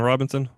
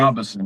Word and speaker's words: Robison: Benjamin Robinson, Ben Robinson. Robison, yeah, Yeah, with us today. Robison, so people say it right, Gotcha.